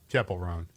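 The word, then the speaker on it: Chappell Roan: And then female artist, Chappelle Roan. Chapel Roan.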